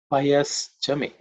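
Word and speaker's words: पयश्च मे: Payas Chame. Payas Chame. Payas Chame. In terms of pronunciation, it should be rather simple. There are no aspirated sounds. The Payaha Chame, that's the word itself is Payaha, the mantra itself is Payaha.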